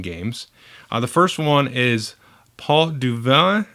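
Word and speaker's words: Pot du Vin: the first one is Paul du Vallon I think that's it's French I'm gonna spell it it's pot P ot a new word D u third word VI n so port of wine or port and actually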